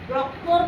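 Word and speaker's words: doctor: तो ओ को हम लोग ओ नहीं पढ़ेंगे, डॉक्टर नहीं पढ़ेंगे, टी का साथ डॉक्टर नहीं पढ़ेंगे, ओ का प्रोनाउंसिएशन क्या हो जाएगा, आ हो जाएगा, डॉक्टर।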